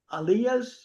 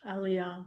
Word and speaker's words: Aliyah: And Gary, I may be mispronouncing. It's alias. Aliyah.